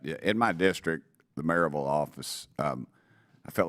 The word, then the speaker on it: Maryville: It's pronounced Maryville if you're from there, but you would pronounce it Maryville, Maryville.